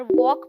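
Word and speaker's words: walk: आपको उनके रूल्स बताओ पर एग्जांपल जब मैंने पहले बार वॉक पढ़ा था तो मेरा तो इंग्लिश से विश्वास ही उठ गया था की भाई जब बोलना ही नहीं है तो ये यहां कर क्या रहा है बिना ल के स्पेलिंग बना देते हैं पर मेरा जोर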